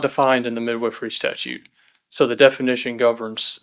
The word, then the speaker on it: Midwifery: And it also says in the statute that the midwives themselves are to be regulated by the Board of Midwifery, is the way you pronounce it.